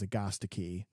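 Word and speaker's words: Agastache: anise a-n-i-s-e hyssop ah one that we referred to previously as agastachi and apparently as agostikey in which both of us refuse to pronounce it that way so we just say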